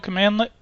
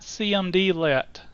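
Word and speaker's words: cmdlet: some background information Powershell commandlet commands are called commandlets and commandlet is pronounced pronounced command let not cmdl I've heard cmdl and that just drives me crazy commandlets are in the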